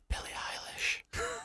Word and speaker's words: Billie Eilish: Billie Eilish, everybody's favourite bad guy. You're saying it wrong. It's Billie Eilish.